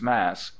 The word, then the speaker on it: Mass: as we wrote Lennox Mass she pronounced it not Massachusetts but mass as is not infrequent in the East thank you she said